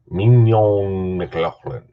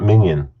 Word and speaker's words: Mignon McLaughlin: Mignon McLaughlin. Mignon McLaughlin. Not minion, like in the Minions with, the little, those guys. No, mignon. Almost like filet mignon. That's exactly how it's spelled, actually. Filet mignon.